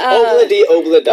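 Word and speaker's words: Ob-La-Di, Ob-La-Da: How do you pronounce this again? Thursday. No. Monday, Tuesday, Wednesday, Thursday. Obladi oblada.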